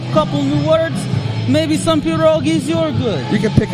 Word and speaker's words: pierogi: this little russian holland corner store it's it's pronounced pirogee okay now anyways back to the ghost he